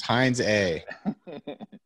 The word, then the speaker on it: Heinze: how to pronounce it which is heinz a maybe not heinz a that's all we really need it's heinz a on that note see